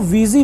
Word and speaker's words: Ouija: वीजी board की spelling है OUIJ, बट इसे प्रोनाउंस वीजी करके किया जाता है।